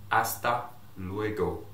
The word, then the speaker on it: hasta luego: what i told you the h is silent in spanish so make sure you don't say hasta you know i want to hear the hasta say like this hasta luego simply okay try again